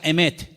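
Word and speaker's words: אמת: conozca la verdad y la palabra verdad en hebreo se pronuncia emet y vamos a ponerla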